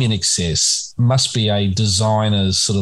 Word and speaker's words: INXS: on the album cover that said pronounced in excess um because they thought that people were too stupid to look at you know i n xs and and realize that